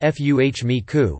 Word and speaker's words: FMECA: FMEA is known as failure mode, effects, and criticality analysis, or FMECA, pronounced FUHMEKU, fault tree analysis.